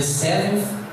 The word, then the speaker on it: seventh: The seventh day. Reparem que no final parece um TH, e o TH em inglês tem som de F. Olha só a pronúncia. Seventh. If. Olha o som do F.